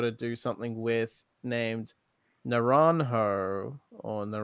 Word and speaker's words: Naranjo: thus the h w the j would not be pronounced as a j for context the spanish